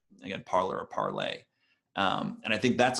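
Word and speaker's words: Parler: it's spelled parlor but it's french word so I think it could be pronounced parlay but I think most people pronounce it parlor anyway so parlor is sort of a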